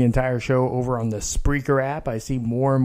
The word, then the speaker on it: Spreaker: are downloading the free Spreaker app it's like speaker but with an extra are so it's not a lisp it's not a speech impediment that's how it's pronounced and the logos of